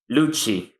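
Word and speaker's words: Lucci: Luchi. Uh, please tell me I pronounce that right.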